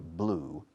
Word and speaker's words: blew: The wolf blew down, usando el pasado de blow, se pronuncia blew, rima con el color azul, like this table, blue.